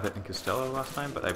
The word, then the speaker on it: Costello: also another error I think I said and Costello last time but I pronounced it like Albert cell I don't know